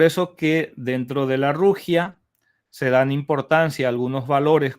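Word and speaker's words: 儒家: el confusianismo que como concepto en China se pronuncia más o menos como rugia. Eh, en realidad confusianismo se se traduce en chino como rugia, eh una pronunciación aproximada, ciertamente.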